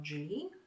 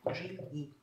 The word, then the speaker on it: Gigli: Ромео Джили, Ромео Джили. Гигли пишется.